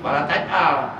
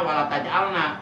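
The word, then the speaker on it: ولا تجعل: Awas, wala taj'al ya, wala taj'al ya, wala taj'al. Sebab saya pernah mendengar ada seorang ustaz bacanya wala taj'alna, itu salah. Dosa itu, sebab itu ada di Quran. Jadi wala taj'al bukan wala taj'alna.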